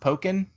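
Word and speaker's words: Pokkén: is why it's called by the way it's pronounced pokken is it polka nor pocket well actually gator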